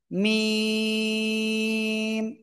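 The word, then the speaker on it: ميم: থেকে কোন জায়গা থেকে দুই ঠোটের শুকন জায়গা থেকে অক্ষরটা উচ্চারণ হবে এবং চার আলিফটা নিয়ে উচ্চারণ করব মিম মিম ঠিক আছে সবাই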